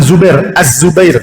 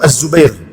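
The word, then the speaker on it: الزبير: pengucapannya harus bener nih bukan Zubair nama beliau itu Az Zubair bukan Zubair karena nama thalhah di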